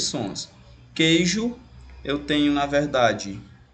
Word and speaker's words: queijo: E como que o ele não é pronunciado no caso U, eu vou ter apenas 5 fonemas.